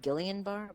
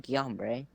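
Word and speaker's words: Guillain-Barré: called guillain-barre or it's it's spelled it's spelled gillian bar but i think it's called guyanbre uh it's pretty rare only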